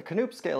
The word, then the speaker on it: Knoop: An objective scale of hardness would be something like the Knoop scale, which, yes, I did look it up. The K is pronounced. It's Dutch. The Knoop scale is much more objective